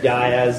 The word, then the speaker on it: dais: and there's a huge dais at one side. How would you pronounce that? Dais. Dais, good.